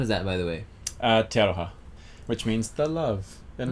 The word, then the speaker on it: Te Aroha: Te Aroha, which means the love in Māori. How do you spell that?